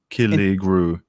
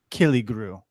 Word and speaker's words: Killigrew: Just Killy Grew. And can you spell that for people so they can find that's KILLIGREW.